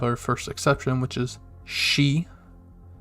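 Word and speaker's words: し: then we have our first exception which is she spelled in romanji s-h-i she and it looks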